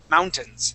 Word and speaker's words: mountains: And at the end of the word here, this A, we're going to act like it doesn't exist, and we want to use a short I sound.